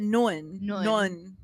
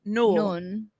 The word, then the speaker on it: Noeul: One of the Love and the Air boys is called, his name is spelled Noeul. Right. But they pronounce it Nun. Yeah. And I'm like, it looks like Noel. But it's Nun.